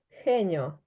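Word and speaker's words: genio: вона звучить як с А що ж відбувається з літерою х коли вона зустрічається з і та е вона звучить як х тому геній буде хеньо Ану скаж так а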